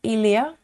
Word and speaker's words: Ilia: Is it Ilia or Alia? Ilia, if you want to pronounce my name, try Ilia. Uh, maybe that has a right sound.